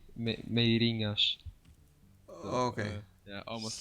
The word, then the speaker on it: Meirinhas: Meirinhas. How am I supposed to pronounce it? Meirinhas? Yeah, it's pretty difficult. Okay. It's Meirinhas.